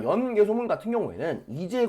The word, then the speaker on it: 연개소문: 연개소문은 참고로 성이 연씨고 이름이 개소문이기 때문에 연개소문이 아니라 연개소문이라고 읽는 것이 맞습니다. 자, 이 연개소문 같은 경우에는 정치적인 정변을 일으키게 됩니다.